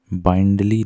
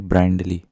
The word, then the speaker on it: Brindley: बाइंडली नामक व्यक्ति ने। एक्चुअली ब्राइंडली, ठीक है, ये सही स्पेलिंग ब्राइंडली है, BRINDLEY, ठीक है, ब्राइंडली।